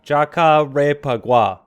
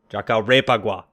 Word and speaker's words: Jacarepaguá: at oh boy Djoko rape ugh wha jock djoko rape agua jaka rape agua oh man so I got